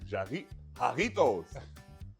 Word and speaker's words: Jarritos: Ouais, les J en espagnol, on les prononce pas. Donc, effectivement, ouais, Jarritos.